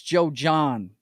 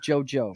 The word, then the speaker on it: Joe John: She's saying it wrong though. It's Joe John. It's not JoJo.